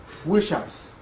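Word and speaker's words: Wieschaus: Um Eric Waus is that correct? No, he will correct me when I uh um Wish House. Wish house Eric Wish house uh who is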